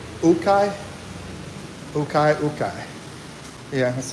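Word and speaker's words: ukay: Ukai.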